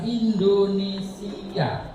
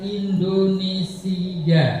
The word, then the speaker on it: Indonesia: bukan e a Indonesia pengucapan Indonesia itu seringkiali secaraak sengaja kita mengucapkan Indonesia ada Y di situ Itu salah kalau itu kontek Lomba